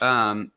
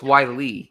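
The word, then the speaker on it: Whyle: I think that's how it's pronounced. Weil. It's Wiley.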